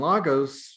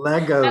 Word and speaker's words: logos: That Legos, like offended me. Lagos, Are you Logos. from New York, Maggie? It's Logos. Exactly, logos.